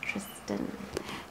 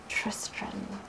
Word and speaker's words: Tristran: and the utterly impossible so i mispronounced his name he's tris trim not tristan tristran so tristram is he